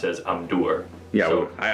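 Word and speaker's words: Amdûr: always pronounce it as Amdur. Yeah, so well, the accent is on the U of the name. That sounds like it's right. Amdur.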